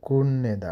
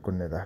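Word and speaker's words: 끝내다: film हेर्नु हिरुल कुण्यदा यो उच्चारण कुत कुण्यदा हुन्छ है कुत लेखेत पनि तल थ झुन्डेर फामा भए पनि त्यो थको उच्चारण न नै भरि जान्छ पछाडी न आएपछि थको पछि न आयो भने न कुन्यदा हुन्छ लेख्दा कुत्नेदा लेखे त पनि उच्चारण कुन्यदा काम सक्नु सुक्चेरोल हादा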